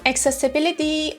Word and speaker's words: accessibility: Accessibility, or the British pronunciation accessibility, is the noun of